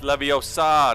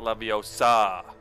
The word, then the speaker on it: Leviosa: want to go there that's not how you pronounce it it's Leviosa not Leviosa visit tomes and Scrolls